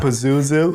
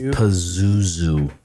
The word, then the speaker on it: Pazuzu: Pazuzu.